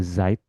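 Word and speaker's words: Zeit: Kecuali yang ada dua double kayak ini, dibacanya Zait, I jadinya ya.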